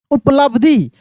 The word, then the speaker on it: उपलब्धि: अब इसमें देखिए किस अक्षर का उच्चारण काफी तेजी से हो रहा है। तो ब का उच्चारण ऐसा लग रहा है कि ब है ही नहीं। उपलब्धि जो कि यहां पर भी देख सकते हैं।